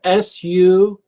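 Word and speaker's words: Sukkoth: you spell success uh s-u-k-k-o-t-h or sometimes spelled with c's s-u-c-c-o-t-h i've seen it with the c's and how do you pronounce it sukkot um can i share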